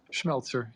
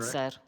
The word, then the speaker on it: Schmelzer: How do you pronounce that? Schmelzer. Yeah, that's correct. Schmelzer.